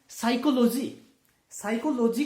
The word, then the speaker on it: psychology: साइकोलॉजी की spelling जो है PSYCHOLOGY, पी से शुरू होती है। अब प कहां गया, साइकोलॉजी। अगर हम पढ़ें तो साइकोलॉजी है।